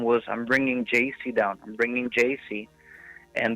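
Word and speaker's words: Yeis: y e i s i pronounce jc just the way you would pronounce a j and a c my name is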